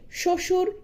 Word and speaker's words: শ্বশুর: এরকম আরো কিছু উদাহরণ হচ্ছে শ্বশুর, স্বাধীন স্বজন। অর্থাৎ শব্দের আদিতে ব্যঞ্জন বর্ণের সঙ্গে যদি বফলা যুক্ত থাকে তবে সেই বফলার কোন উচ্চারণ হবে না।